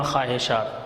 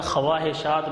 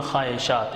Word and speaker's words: خواہشات: خواہش، خواہش کی جمع خواہشات، یہ تلفظ کا خیال کرنا، خواہشات بچے پڑھتے ہیں، خواہشات نہیں پڑھنا، واو سائلنٹ ہو جائے گا۔ یہ واو